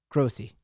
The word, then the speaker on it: Grossi: One of them, name rhymes with Goatsy, Grossi.